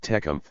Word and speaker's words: Tecumseh: The Indians pronounced it Tecumseh, with the final E short, but it has become